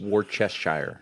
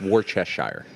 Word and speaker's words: Worcestershire: shared like 3 or 4 videos / memes Worcestershire. of how to pronounce it. What's that people there, making sir jokes sauce? about it. Yeah, Yeah, right. It's Worcestershire.